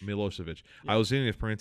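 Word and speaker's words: Milošević: around on uh Milo what how do you pronounce it Slobodan Slobodan means freedom okay what just his last name milosevich milosevich I was seeing if Pary had kind of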